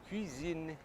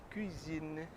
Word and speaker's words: cuisine: Então sempre que for falar cozinha, alta gastronomia francesa, faz o biquinho francês, cuisine, cuisine.